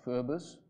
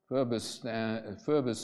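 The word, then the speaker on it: FRB/US: The best known is something called Furbus. Furbus is a way of pronouncing a five-letter acronym, FRBUS, Federal Reserve Board US model.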